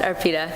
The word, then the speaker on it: Arpita: I'm not sure who goes first, but is it Leah, Logan, or is it Arpita or Arpita? It's pronounced Arpita, and I'll be starting.